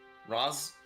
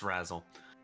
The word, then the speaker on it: Razle: I mean, technically Ros is not incorrect. Yeah, it's Razle, though.